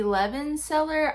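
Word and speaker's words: Levenseller: and this is by tracy levin seller i think is how you pronounce her name and i absolutely love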